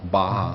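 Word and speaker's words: Barra: r r a but it's Portuguese so it's actually pronounced Baja Baja exactly awesome well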